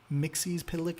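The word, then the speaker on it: Mxyzptlk: oh give me two seconds Mr Mixie pck Mixie pck and I will not argue uh that's how you pronounce it uh along with batm might I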